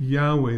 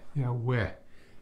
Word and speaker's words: Yahweh: So this word Yahweh, then you'd have to put they'd have to put some to know what says Yah. And Yahweh.